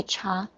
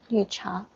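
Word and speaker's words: 茶: by cha or new cha cha yes tea is cha it's like the indian chai chai i thought something about chai chai i thought it is so similar uh espanol is a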